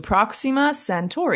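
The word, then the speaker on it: Proxima Centauri: to Earth other than the sun is called Proxima centor did I pronounce that right I put the phonetic pronunciation because I knew I was going to mess up that pronunciation Proxima sentor yes I did I did pronounce it right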